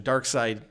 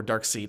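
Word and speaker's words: Darkseid: outcomes to your question dark side or dark seed I don't know how to pronounce it is it seed I I say dark side of her dark seed apparently and apparently even though it's clearly written seed apparently is side okay even though it's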